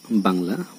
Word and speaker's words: বাংলা: উ এবং অনুস্বারের উচ্চারণ সবসময় উ এর মতো, যেমন বাংলা, বাংলা শব্দের শব্দের বানানে আছে অনুস্বর কিন্তু আমরা উচ্চারণ করতে গিয়ে লিখব উ দিয়ে।